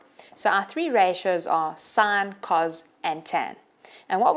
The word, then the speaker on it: sine: All right, so if we go up, says there our first trig ratio is called sine, but we spell it S-I-N. So we don't say sin, we say sine.